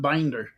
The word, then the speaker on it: Binder: We've always pronounced it Bender on this side, but my cousins have always pronounced it Binder. So Which is the correct one? I don't know. It's German. So and it's like I always got told like a bookbinder.